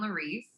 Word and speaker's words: Laurice: Instagram which is at Logan Laurice Larissa spelled like Maurice with an L and I do them